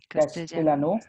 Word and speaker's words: Castellano: The complete sentence will be Spanish la Castellano. It is L is pronounced as J.